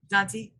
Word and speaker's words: Passante: Well, Kera Passante, is that how you pronounce it? Passante.